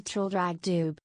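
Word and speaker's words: Traldragdubh: It contained a warrant for conducting me and my retinue to Trildragdub, or Trildrogdrib, for it is pronounced both ways as near as I can remember, by a party of 10 horse.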